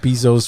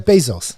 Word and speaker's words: Bezos: Jeff Bezos was the Jeff Bezos. Some will say Bezos, some will say Bezos.